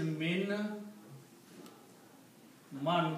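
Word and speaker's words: مِمَّن: before this mem so you do not pronounce this noon but you pronounce meme twice so that's the reason you put a sh there okay so now the pronunciation will be MIM MIM M right M yeah this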